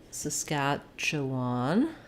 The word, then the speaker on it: Saskatchewan: terms of spelling um we have stresses on the scatch syllable so we have it's like the word catch in there um so if you start with catch it might help you thinking about catch saskatche so we have the schwa